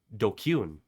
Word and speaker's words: DQN: DQN, pronounced dkune.